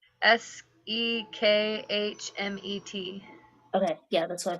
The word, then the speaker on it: Sekhmet: Sekhmet. Okay, yeah, that's what I thought it was. Am I saying it wrong? No, you're saying it perfectly right.